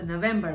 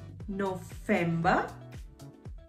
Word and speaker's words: November: November, same spelling, but remember the alphabet, V is pronounced as F, has the F pronunciation. So November becomes November, November.